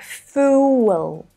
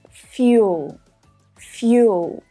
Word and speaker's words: fuel: would be something like fool. Fool? But the correct pronunciation is fuel. Fuel. Now, notice that when this word is spoken, we actually add a consonant sound, the y sound.